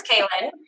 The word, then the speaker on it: Klyn: is really weird it's k-l-y-n pronounced kaelyn it looks like clint clean klein killin kylon whatever it's kaelin um so the cool